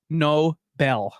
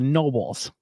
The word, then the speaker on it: Knoebel: by the Knoebel, and the pronunciation is Knoebel. Knoebel. So there you go. Because some people Okay. say Nobles. I'm going to Knoebels. it's that Knoebels. silent K.